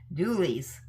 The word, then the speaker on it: Doulies: Yes, now maybe I can pronounce it. Julie's. It rhymes with Julie.